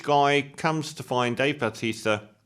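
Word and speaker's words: Bautista: comes to find a batista do i say his name right yeah i do um to organize a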